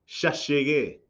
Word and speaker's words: llegué: The LL and the Y are pronounced sh. So, I have arrived, ya llegué.